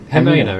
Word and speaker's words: Jimena: How do you pronounce the J name? Is it Jimena, it is, yes.